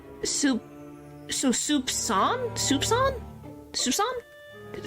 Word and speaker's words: soupçon: And yes, somewhat surprisingly, C is pronounced like an S. Soupçon?